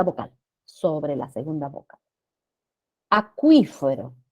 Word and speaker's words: acuífero: Acuífero, la sílaba tónica es qui, qui.